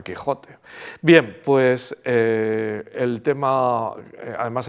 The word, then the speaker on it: Quijote: de los topónimos y nombres como Quijote o que o México lo han mantenido pero se pronuncian México y se pronuncia Texas no y se pronuncia Quijote bien pues el tema